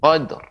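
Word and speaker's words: قدر: Ada dua huruf yang disukunkan namun sebelumnya huruf yang qolqolah ba qolqolah, maka pengucapannya cepat sabr wal fajr. Lai fi lailatil qadr. Qadr cepat. Ya, karena memantul.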